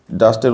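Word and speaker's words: dust: এখানে ডাস্টের উচ্চারণ কেন এরকম হবে এটা তোমরা বুঝতেই পারছো। কারণ প্রথমে হচ্ছে ডি হচ্ছে কনসোনেন্ট, ভি হচ্ছে ভাওয়েল, আবার কনসোনেন্ট, অর্থাৎ ইউর উচ্চারণ হবে সিভিসি রুল অনুযায়ী আ, তো এই জন্য ডাস্ট।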